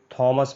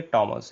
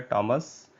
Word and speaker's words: Thomas: है राइटर का नाम, आप इसको थॉमस पढ़ते हैं। ये थॉमस नहीं है, ये टॉमस है। इसका प्रोनाउंसिएशन होता है टॉमस।